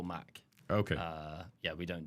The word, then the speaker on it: MACH: uh normalize it to Mac so a bit more like uh yeah like an Apple Mac okay uh yeah we don't do the Mach uh but I've I've